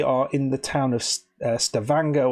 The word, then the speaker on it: Stavanger: in the town of Stavanger which rhymes with hangar not Stavanger as I've been saying